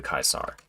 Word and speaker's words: Caesar: say awe true to Kaisar and that's because that's you know slightly uh anglicized pronunciation of how they would have said that phrase um if they said